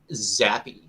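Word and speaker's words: Zappe: Sit uh QB Bailey zappy that I say it right is that good for you yes you did you did I want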